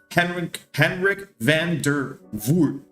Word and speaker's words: Henrik van der Voort: Henrik van der Voort. So it's spelled HENIRK VANDER and then VOORT.